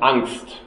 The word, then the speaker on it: Angst: But at the beginning, we start with the German Angst, right? It's an English term. How do you pronounce it, Brian?